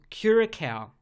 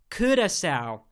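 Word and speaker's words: Curaçao: I noticed right away that being the title Keira cow which is actually pronounced let me try this Kurtis out by the locals because it's named after a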